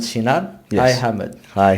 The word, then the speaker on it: Cinar: Silva and today I'm here with a special guest, Ahmet Cinar. Yes. Hi Ahmet. Hi. How are you? Good? Thank you, I'm good. How are you? I say your name properly? Ahmet Say- Cinar.